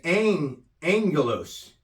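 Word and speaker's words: ἄγγελος: And its number is 32, and the pronunciation is angelos.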